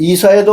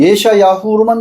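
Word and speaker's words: ישעיהו: 근데 구약 성경에는 이사야도 없고 예레미야도 없고 에스겔도 없습니다. 히브리어 발음으로는 예야후 혹은 예야 근데 예야후서에는 예야라고는 발음이 없어요. 그냥 예샤 야후로만 나와 있어요.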